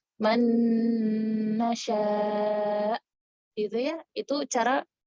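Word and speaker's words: من نشاء: Jadi maksudnya kita masukkan langsung dengan nun. Jadi kita gabungkan nun yang pertama dengan nun kedua secara langsung. Jadi seakan-akan nunnya cuma satu. Seperti pada kata man nasya.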